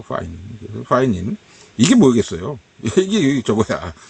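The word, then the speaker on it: pinene: 피넨이라고 우리는 또 읽는데, 발음이 파이닌이더라고, 파이닌.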